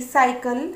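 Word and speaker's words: cycle: तो यहाँ पर देखिए सी के बाद आई आया है तो इसका उच्चारण हम करेंगे स के जैसा. इसी तरीके से सी वाई सी एल ई साइकिल, सी वाई सी एल ओ एन ई साइक्लोन,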